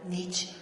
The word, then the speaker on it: Nietzsche: Consta que pronuncié la E al final, Nietzsche.